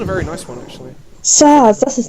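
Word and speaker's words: Sazh: Saz, that's his name. What is it? Saz. Saz? S-A-Z-H. Saz, ha? Saz. Saz Saz. It's got a... Yeah, I'm gonna say Saz. Silent letter, whatever.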